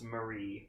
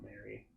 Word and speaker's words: Marie: Also, it's Marie, not Mary. Mary spelled with a Y. It's Marie. So it is.